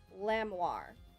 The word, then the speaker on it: Lamoir: I think it's pronounced like lamb and the part of armoire. Lamoir.